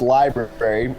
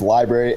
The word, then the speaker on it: LBRY: here and mention that while it's pronounced Library it's spelled lbr y we've dism vowed the word Library so it's Library lbr y the website